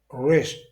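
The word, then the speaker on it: wrist: Rest poignet. Remarquez que le W, c'est-à-dire le W, ne se prononce pas.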